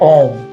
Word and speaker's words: ओम: प्रणव मंत्र है ओम। तो इसको हम प्रोनाउंस करते हैं अ म अ उ म औ तीनों अक्षरों से जीव और ब्रह्मा की एकता का प्रतिपादन होता है।